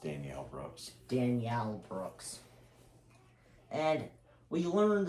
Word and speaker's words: Danielle Brooks: And that character is Don, played by Daniel Brooks. I believe that would be pronounced Danielle Brooks.